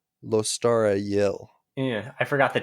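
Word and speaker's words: Lostara Yil: that person immediately kills sheik her name is lostra yill in case you were wondering the narrator of the audiobook who is obviously the ultimate authority on all things pronunciation pronounces her name lostara yell yeah i forgot the t i'm sorry anyway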